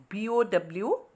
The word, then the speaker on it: bow: sentence the pronunciation is bow bow and the meaning is to band at the waist and this word rhymes with the word how in the next sentence maria placed a red bow on the birthday gift